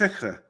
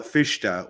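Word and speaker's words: Fichte: founders of German naism careful you know fish fish it's fish I thought it was F no no okay well that's my that's my mispronunciation okay well fisha was then uh was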